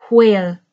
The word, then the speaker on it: where: between where and were, some people, and in an older style of English, it was more common, some people will pronounce their WH closer to an HW, and it will have a sound of breath.